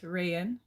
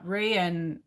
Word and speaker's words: Rayan: Um, yeah, because hey, hey, Rayan, am I saying your name right, Rayan? Oh, there's Eli. Can everyone hear my gun? I don't know. Yeah, Rayan, it's Arabic. Oh, so Arabic. So I am saying it correctly.